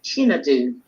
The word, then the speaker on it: Chinedu: It is Chinedu. Thank you. Chinedu. Chinedu. Yeah. So. I'll help you a bit. If you say chi and then nedu, chinedu. Chinedu.